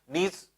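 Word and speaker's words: gneiss: नीस जो है आपके, इसको बोला जाता है कहीं कहीं पर नाइस भी बोलते हैं। तो इसलिए जो है आपके प्रोनाउंसिएशन अलग अलग कंट्रीज में अलग अलग है।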